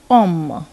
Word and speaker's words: homme: Another example we can take here is of homme. Homme means a man, and here it is starting with a silent H, so we use cet homme.